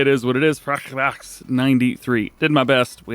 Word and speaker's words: Frechdachs: It is pronounced FrechDachs.